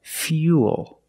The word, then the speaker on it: fuel: a little different we're going to use the e sound fuel not fool but fuel we have the same long